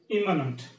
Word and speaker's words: immanent: Immanent. So this is pronounced as immanent.